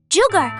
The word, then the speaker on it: jugar: Sound 1, the Spanish J throaty friction. Jammed in, jeff, jugar.